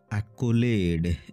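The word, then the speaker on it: accolade: ভিডিওরে আমি কিছু গুরুত্বপূর্ণ ইংরেজি শব্দের অর্থ ও উচ্চারণ বিষয়রে আলোচনা করিবা আকুলেড এ সি ও এল এ ডি ই আকোলেড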